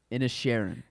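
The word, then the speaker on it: Inisherin: banshees of bans oh I said it wrong in a Sharon okay thank you um in a Sharon but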